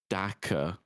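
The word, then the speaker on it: dakka: have no idea the the correct pronunciation is daaka right cuz it makes the daa sound yeah that's in 40K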